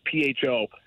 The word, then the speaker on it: pho: of a pho place, P-H-O. Not pho for all you people out there. It's actually pronounced pho.